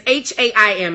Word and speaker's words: HAIM: And it's HAIM. It's not like the food ham.